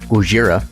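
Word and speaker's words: Gojira: that I've heard about Godzilla or guira as he is properly pronounced that he is a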